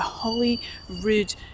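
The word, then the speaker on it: Holy Rude: The pronunciation sounds a little bit like Holly Rude Palace in Edinburgh, but the spelling is actually different. This spelling is R U D E, like the word rude.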